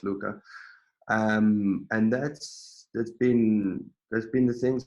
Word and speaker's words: LVCA: Luca, but spelled LVCA, the V being the Latin U. So it's just basically just my name, and people say it's like LVCA, but it's pronounced Luca.